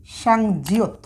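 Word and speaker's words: 쌍지읒: আচ্ছা, আর একটি মাত্র বর্ণ আমরা লিখব, সেটার নাম হচ্ছে সর্বশেষ সাংজিয়ত। তাহলে এখানে দেখুন আমরা দুইটা জিয়ত পাশাপাশি লিখেছি, তাহলে এর উচ্চারণটা হচ্ছে সাংজিয়ত।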